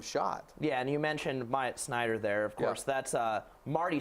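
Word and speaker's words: Myatt Snider: cutoff with that, because is it Mighty Snyder? How do you pronounce that? Myatt Snyder.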